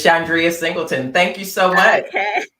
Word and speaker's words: Chandria Singleton: just in case I mispronounce her name, but Chandria Singleton. Okay, sorry. Hello. Did I say it right? Yes, you did. It's Chandria Singleton.